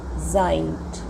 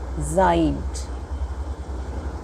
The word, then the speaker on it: seid: Ihr seid. EI is pronounced as I in German. So ihr seid.